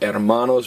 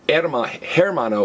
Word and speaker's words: hermano: So hermano's brother. But notice, it's not hermano, it's hermano. Because everybody, what's the only silent letter in Spanish? H.